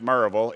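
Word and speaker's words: Maryville: represents he graduated from marville high school pronounced marille if you're from there and got his bachelor's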